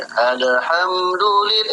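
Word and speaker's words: الحمد لله: Jangan pula kayak wawa tuh pula bacanya gini. Alhamdulillah.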